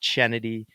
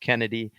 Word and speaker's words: Chennedy: up Kennedy Carter and that's Kennedy Carter with an H not chennedy it's pronounced Kennedy um but Kennedy checked